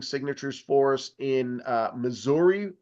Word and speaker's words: Missouri: for us in uh Missouri right now or Missoura if that's uh your preferred pronunciation um we have people